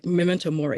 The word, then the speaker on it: memento mori: that poem thank you and Memento Mori that's how you say it okay I always say it wrong I I may say